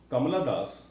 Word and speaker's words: Kamala Das: The poems of Kamala Das, spelled like Kamala, Kamala Das.